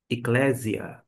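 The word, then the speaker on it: ἐκκλησία: E o termo no grego é este aqui, que é pronunciado eia eclésia ou ainda eia.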